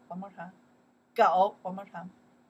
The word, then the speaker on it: 狗: Okay, pronounce 狗 one more time. 狗 one more time.